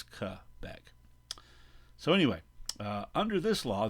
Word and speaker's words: Quebec: Again, I remind you that it is a French word and it's not pronounced Quebec, it's Quebec.